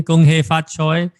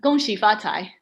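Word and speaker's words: 恭喜发财: Gong hei fat choi. And how do you say it in Mandarin? I want to say it properly. Gong xi fa cai.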